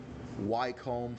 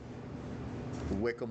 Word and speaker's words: Wycombe: you wasn't watching early I've been pronouncing it wcome for all this time but that is not the correct pronunciation it is Wickam Wanderers all right so let's